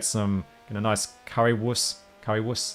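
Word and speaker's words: Currywurst: a nice Curry wuss Curry wuss is how you pronounce it know you know that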